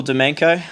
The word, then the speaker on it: Domjanko: social pages yet and de menko from Melara building and development that's with a silent jay don't forget that thanks